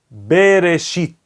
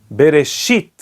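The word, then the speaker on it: בראשית: Por exemplo, bereshit. A sílaba tônica é o shit, é oxítona. E por isso o ta'am se encontra no shin, bereshit.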